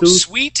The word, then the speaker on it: suite: gonna be suit suit suit there you go sweet has an e at the end okay so